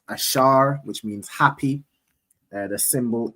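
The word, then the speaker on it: אָשֵׁר: So those those countries in between there are predominantly the tribe of Asha right in the Hebrew it's ash pronounced ashar which means happy the symbol is the royal dainties which is typically grapes.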